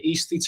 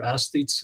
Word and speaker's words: aesthetes: While at Oxford, he becomes acquainted with Walter Pater, the famous aesthete, and the aesthetes or aesthetes, it's pronounced both ways.